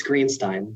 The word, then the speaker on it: Greenstein: And Youth Legislator Greenstein, am I pronouncing that correctly? Yes, it's Greenstein.